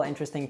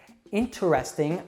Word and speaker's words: interesting: Interesting often becomes interesting, and it's pretty rare that you'll hear a native say comfortable.